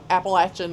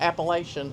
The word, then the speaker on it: Appalachian: because they say Braml just like Appalachin is not Appalachian it's Appalachin get the syllables suppressed a little bit but a couple other thoughts on the tour.